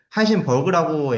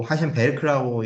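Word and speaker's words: Heisenberg: 그 여담이지만은 하이젠베르크도 하이젠버그라고 얘기하는 사람도 있고 하이젠베르크라고 읽는 사람도 있죠. 이제 미국식이냐 또는 독일식이냐라는 그 발음 차이에서 기난 차이입니다. 둘 다 맞는 말이에요.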